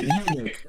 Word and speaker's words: eunuch: Yeah, I was thinking the comment like, okay, I listened to a bit of it, eunuch, okay, and then eunuch.